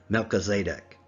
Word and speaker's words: Melchizedek: the order of melchizedek or as i prefer to pronounce it melchizedek the king of righteousness